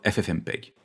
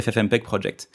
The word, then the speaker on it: FFmpeg: Pour être plus précis, libavcodec qui fait partie du projet FFmpeg et FFmpeg étant un projet français, il faut maintenant aussi le prononcer avec un accent français !